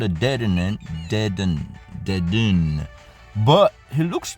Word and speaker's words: Dedenne: I've actually never seen before it's called a deaden deaden dun but he looks more like a